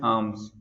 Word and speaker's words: alms: The next word is alms. A-L-M-S. Here is L is silent.